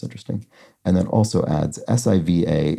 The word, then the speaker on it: Siva: and that also adds Siva is a variant of Shiva and is often pronounced the same way so my suspicion was